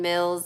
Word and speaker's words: Mills: my name is Mills it rhymes with bills you know the one the dollar dollar bills I this whole channel